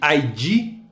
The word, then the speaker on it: id: São os conceitos de ID, ou ID, eu não sei como é que você fala, ego e superego. Claro, Fabrício. Vou explicar esses conceitos fundamentais da psicanálise. 1. Id. Pronuncia-se id mesmo.